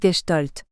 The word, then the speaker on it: Gestalt: la Gestalt et oui c'est difficile à dire Gestalt quand on ne sa pas que c'est de l'allemand et qu'on prononce gestolt quoi qu'il en soit